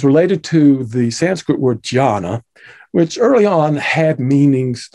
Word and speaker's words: jhāna: In China, jhana gets pronounced chana and shortened to chan.